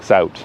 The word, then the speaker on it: zout: You pronounce Zout like Zout. Okay. Like out with a Canadian accent.